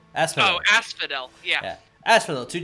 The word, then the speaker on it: Asphodel: How do you pronounce that? Asphodel. Asphodel.